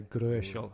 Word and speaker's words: Gröschel: See, good thing I've got a German here tonight, so we can actually because it's an O umlaut, so it's you can pronounce it a bit like an OE, so Gröschel.